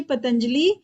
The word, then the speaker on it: पतंजलि: और ये सुनने में आता है की महर्षि पतंजलि बहुत बड़े आयुर्वेद के जानकर भी द बहुत